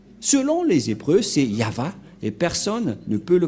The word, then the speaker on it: Yahvah: au début alors que selon les hébreeux ce terme se prononce y ah et lorsqu'on va le regrouper avec le va ça donne ce que ça donne nous allons écrire en jeune ya Yod et et va V voilà le nom de yava prononcé par le grand père Moché yava donc voilà nous